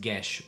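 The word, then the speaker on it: geas: Because indeed, adult and ancient dragons can cast gish once a day. If you've been pronouncing this guas for ages, don't worry.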